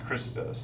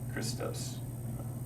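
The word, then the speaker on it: Χριστός: And this is because this is Christos. That's how they say it. Christos, right?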